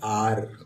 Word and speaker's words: are: इसी तरह ARE, ये अरे नहीं लिखा हुआ है, ये है आर। क्या लिखा हुआ है? आर।